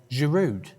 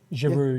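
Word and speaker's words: Giroud: Girude. Jiru. Yeah. Just without the D.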